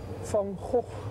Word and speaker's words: Van Gogh: Excuse me, can you tell me how to pronounce this? Van Gogh. Van what? Van Gogh.